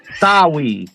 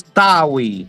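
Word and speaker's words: Tahui: It's tawi. So it's tawi. Like t a ta and the the h u is a w and the i is a e. Soi. That's how you say it.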